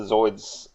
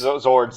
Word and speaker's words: Zords: They just announced the Zoids stuff. The Zords. Zords.